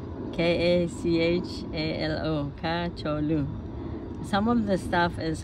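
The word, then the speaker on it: کچالو: then some salad stuff, or potatoes, which is kacholu. Potatoes, kacholu. K-A-C-H-A-L-O, kacholu. Some of the stuff is hard to pronounce, I guess, because in English we don't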